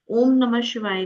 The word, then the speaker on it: ओम नमः शिवाय: पंचाक्षरी मंत्र, क्योंकि इसमें पंच अक्षर आ रहे हैं, 5 syllables, जिसे बोलते हैं नम। ठीक है, न म शिवाय। ठीक है ना, ये 5 शब्दों से, 5 syllables से बनता है हमारा पंचाक्षरी मंत्र ओम नमः शिवाय।